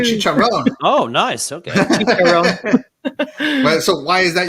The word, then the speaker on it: Chiron: I thought it was the Bugatti Chiron, but then I Googled it and they said Chiron and also Chiron.